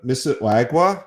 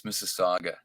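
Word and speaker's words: Mississauga: what is the first of all I can't pronounce it Miss Miss waga how do you pronounce the name of your oh that's Mrs Saga Mrs I can't even do it all what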